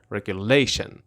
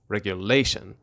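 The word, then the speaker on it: regulation: به چه معنی هستش اول به تلفظش دقت کنید اسس کجای کلمهست میگم رگولیشن رگولیشن اسس رو بخش لی هستش و این کلمه از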